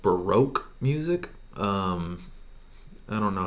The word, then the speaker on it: baroque: do that is called Baroque music I don't know how to spell that but it's called baroque sounds like broke but it's Baroque and that music is